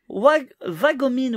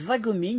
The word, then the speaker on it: Wagomine: On dit Wagomine, mais on dit Va. Ouais, mais et Kaorin en rare. Mais en fait, j'entends tellement de personnes le prononcer différemment. Moi, j'enregistre tout. Ouais. Et il y en a qui disent Vagomine, il y en a qui disent Wagomine, et il y en a qui disent Wagomine.